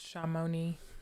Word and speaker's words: Chamonix: sport what is it my mom said it's pronounced shamoni chamonix i don't know they